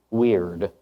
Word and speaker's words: wyrd: PhD and this excerpt comes from chapter 2 weird that's spelled wyrd not w r d I'm about